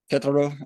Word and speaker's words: Querétaro: a lot of history about Club Tijuana and Querétaro, I think it is how you pronounce it.